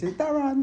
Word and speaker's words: Darran: My mum said the reason she spelled it like that is because that's how it's said. And I was like, it's not really. She said, it's Darran.